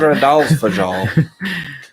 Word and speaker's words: Fagradalsfjall: Fagradalsfjall. Fagradalsfjall. Fagridalsfjall. Fagradalsfjall. I think that's right on. Mount Fagradalsfjall. Sounds like Philadelphia.